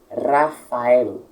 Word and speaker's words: Rafael: Rafael. O R é puxado, como eu falei, e o L é bem puxado também, como se fosse um espanhol dizendo, uma pronúncia.